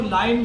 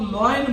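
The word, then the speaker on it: lion: द कट मू डॉग द डॉग बासे यह लाइन होता है इसकी उच्चारण पर ध्यान देना इसको लाइन बोलते हैं एल आई ओन लेकिन कुछ लोग लन बोलते हैं लोइन एल ओ आई एन होता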